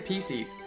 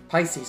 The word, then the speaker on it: Pisces: with the pisces sculpture i keep on saying pcs just because of how it's spelt huh pisces pisces pisces ah gumshoe